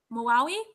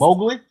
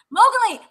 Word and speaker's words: Mowgli: Belongs to a Netflix movie, and it's oh, okay, I can't pronounce this, but it's Maui, which is The Legend of the Jungle, which is based Mowgli. Mowgli.